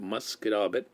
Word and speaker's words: Musquodoboit: Scotian because I can actually say it right, Musquodoboit. And here's Nettie's post. Is anybody aware of youth programs over March break other than the rec center? And she's probably talking about the one in Musquodoboit Harbor, and they usually have a ton of kids.